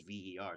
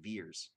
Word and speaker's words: Vers: so it just says VER. So I thought it was pronounced Ver, but no, it's pronounced Veers.